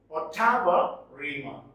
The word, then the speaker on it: ottava rima: Its pronunciation is Ottava Rima.